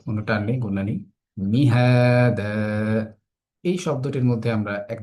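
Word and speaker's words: مهادا: আলাম নাজআলিল আরদা মিহাদা, এই আয়াতের মধ্যে আমরা কি কি দেখতে পাই? আলাম শব্দটির মধ্যে কোনো গুণা নেই। নাজ আলিল, আর ত স্বাভাবিক, কোনো টান নেই, গুণা নেই। মিহাদা, এই শব্দটির মধ্যে আমরা এক জায়গায় টান দিচ্ছি, সেটা কি?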